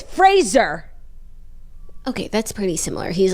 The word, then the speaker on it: Fraser: sitcom Frasier Frazier says his name actually rhymes with razor so it's Fraser okay that's pretty similar